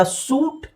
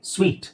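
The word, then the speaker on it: suite: ಅಂತ ಹೇಳ್ತೀವಿ ನೆಕ್ಸ್ಟ್ ಇದು ಇದನ್ನ ನೋಡಿದಾಗ ಸೂಟ್ ಅಂತ ಅನ್ಸುತ್ತೆ ಸೂಟ್ ಅದು ಸೂಟ್ ಅಲ್ಲ ಆಕ್ಚುಲಿ ಸ್ವೀಟ್ ಸ ಇಲ್ಲಿ ಉಚ್ಚಾರಣೆ ನೋಡಿಎಸ್ ಡಬ್ಲ್ ಐ ಎರಡು ಚುಕ್ಕೆ ಎರಡು ಚುಕ್ಕೆ ಇರೋದು ಇ ಅಂತ ಸೂಚಿಸುತ್ತೆ ಸೋ ಸ್ವೀಟ್ ಸ್ವೀಟ್ okay so ಸ್ವೀಟ್ right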